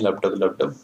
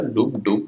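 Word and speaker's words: lub-dub: लेकिन कई बार आपने देखा होगा कि बहुत से स्टूडेंट्स क्या कहते हैं लब डब, वो गलत प्रोनाउंसिएशन है। सही क्या हो जाएगा, लूप डूप लूप डूप, ये आपका करेक्ट रहेगा।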